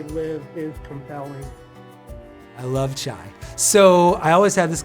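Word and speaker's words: חי: And I had so many people write me in, hey, did you know that in Hebrew, or if you're Jewish, chai is chai, spelled the same way, which is life, and that's what we're celebrating.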